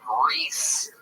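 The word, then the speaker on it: Rhys: Yeah, but you get mad every time somebody doesn't call that Reese, even though it literally isn't spelled like the name Reese at all.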